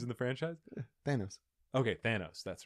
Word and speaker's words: Thanos: of the movies in the franchise thanos okay thanos that's right oh really thanos thanos is like famous enos cookies but yeah thanos is uh trash really yeah yeah why because